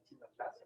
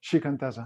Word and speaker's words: Shikantaza: ¿Chinataza? ¿Cómo se dice? Shikantaza.